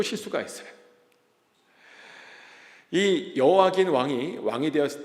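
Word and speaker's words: 여호야긴: 이게 발음이 되게 어려워요. 여와 김과 여호와 긴입니다. 미음하고 니은 차이예요. 근데 2차 포로는 여호와 긴 왕때 발생합니다.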